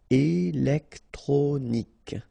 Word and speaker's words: électronique: Remember, Q-U-E at the end. K. Électronique.